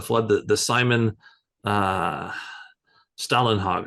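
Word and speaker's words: Stålenhag: the the Simon uh Stalin hog I guess is how he pronounces it uh those three books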